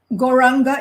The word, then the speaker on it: gauranga: artwork should be there so it's gauranga in four syllables it's gol g-o-u gore there it is it's